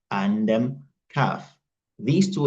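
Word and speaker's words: كاف: In the same way, Qaf and Kaf are also different letters, so we must learn how each one is pronounced and how each one is written.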